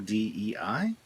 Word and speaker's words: Dei: Next is from Peccatum D, Peccatum, capital DEI. DEI is pronounced the same as day in English, so Peccatum Dei.